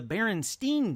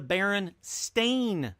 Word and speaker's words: Berenstain: because for some reason they were never known as the Berenstein bears they've always been known as the Baron Stane bears and it's not just a pronunciation it's a spelling as well it is no longer be er en ste I n Berenstein bears it is now Berenstain sta i n the people